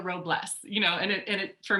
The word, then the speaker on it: Robles: my name right so i've been called robles many many times which is fine all right but it's robles you know and it